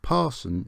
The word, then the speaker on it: Paston: this line ran through paston and napton or parson as as i've been told munsley on sea trimmingham